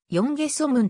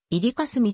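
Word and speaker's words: 淵蓋蘇文: が磯分は今日の韓国では看護発音でヨンゲソムンと呼ばれているが日本書紀の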